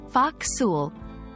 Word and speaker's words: forecastle: this is for you the term ful pronounced Fox refers to the upper